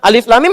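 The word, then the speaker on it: الم: Alif lam mim. Alif lam mim. Enggak pernah berubah jadi alam.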